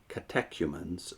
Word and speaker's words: catechumens: resign if they were to continuous let me pronounce that again because I've been corrected on this several times catechumens are humans that's c-a-t-e-c-h-u-m-e-n-s is of course just